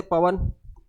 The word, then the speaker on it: पवन: पूछे थे पवन, तो औ का प्रोनाउंस हो रहा है, ठीक है।